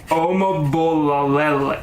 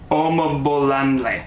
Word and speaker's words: Omabolanle: Omabolalele. No, that's not it. Omabolanle. There we go. There's no T in there.